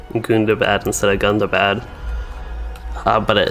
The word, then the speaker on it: Gundabad: So it was spoken like Gundabad, it sounds like. Yeah, it could also be some like accents. I don't know if what accent it would be that would say Gundabad instead of Gundabad, but